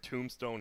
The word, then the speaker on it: tombstone: Tombstone, he does nothing versus... Why is there a silent B in a Tombstone?